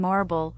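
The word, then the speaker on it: Morrible: Meanwhile, Oz and Marrible, rhymes with horrible, target the fugitive Alphaba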